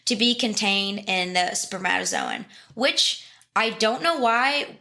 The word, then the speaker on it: spermatozoon: Or spermatozoon, which is how you should pronounce it in English. Because it's spermata, Z-O-O-N. It should be spermatozoon.